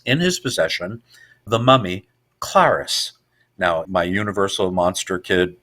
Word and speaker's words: Klaris: Well, it rhymes with Karis, so it was like Klaris.